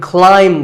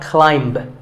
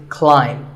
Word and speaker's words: climb: climb the ladder, not climb. A quick note, in the pronunciation symbols that you see on the screen, the AI is an I sound, not an A sound. So the word is climb.